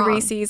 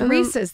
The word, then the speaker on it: Reese's: is a a debate I think it's Reese's but I say I say rees's I say hold on this is the first thing in the world that I've said right I was like I'm pronouncing that wrong too okay a chocolate butter cup whatever you want to call it okay it's Reese's though right I think you're